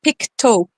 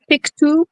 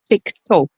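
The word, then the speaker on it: Pictou: It's Picto country. It's spelled Pikto, but it's Picto.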